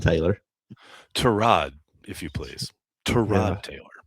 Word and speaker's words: Tyrod: they bring in and I'll probably going to mispronounce the guy's first name and I'll I'll apologize. Tyrod Taylor. Tyrod, if you please.